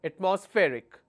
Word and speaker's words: atmospheric: another word atmospheric so let me break it into syllable at MOS Rick so my stress will be here atmospheric all right next word